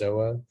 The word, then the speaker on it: zoa: It's spelled the same way as zoo, but it's really pronounced zoa.